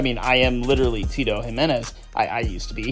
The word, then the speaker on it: Jimenez: himz that is him I think that's how you pronounce his last name Tito Jimenez yeah that is how you pronounce my last name anyway um obviously